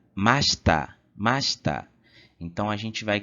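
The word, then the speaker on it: ました: Então, a forma passada do verbo se pronuncia mashita, mashita.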